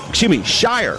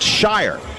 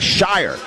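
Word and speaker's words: Scheurer: It is Brandon Shire. I'm sorry. It's pronounced Shire. S-C-H-E-U-R-E-R. Pronounced Shire.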